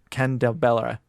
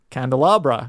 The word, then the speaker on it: candelabra: each other guessing what gift was beneath the ken de bella that's a pronunciation candelabra yeah there we go it's not even a